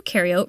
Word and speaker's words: eukaryote: and you and you eukaryote rhymes with do prokaryotic cells have no